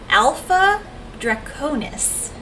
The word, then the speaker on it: Alpha Draconis: but it's called that i can't pronounce this alpha draconis you pronounced that correctly yes did i do it